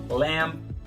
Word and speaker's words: lamb: Geralmente, as palavras que terminam com B, esse B não é pronunciado, tá? Como no caso de numb, que é entorpecido, come, pente, dumb, bobo, lamb, cordeiro.